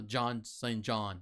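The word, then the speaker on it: Jean St-Jean: collection again this is jean saint jean and he is phenomenal uh john john actually if you pronounce it right but um man he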